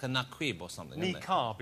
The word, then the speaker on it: niqab: But we also put, we think it's either Naquib or Nakid. It's something like that. It's like a Naquib or something. Niqab is how it's pronounced.